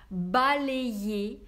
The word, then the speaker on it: balayé: Произносим вместе «се пейе», улыбка «се пейе», «балее», «ублие». На конце «е», «е», «е».